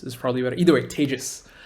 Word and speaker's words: Tejas: hi my name is tejas that's pronounced like contagious or maybe in pandemic times advantageous is probably better either way tejas say with me tejus right and i work